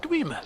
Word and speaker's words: Dwemer: I pronounce it Dwemer, but that's just me.